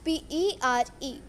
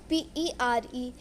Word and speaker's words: père: Spelling is P-E-R-E, P-E-R-E, एंड the pronunciation is पेड़.